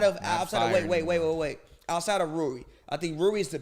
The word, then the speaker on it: Rui: Rui.